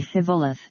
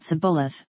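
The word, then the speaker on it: Shibboleth: those who cannot say Shivoleth, and lay a pretty good stress on the H, but who pronounce it Sibboleth, let the fords of the Jordan be taken, and let them be put to death.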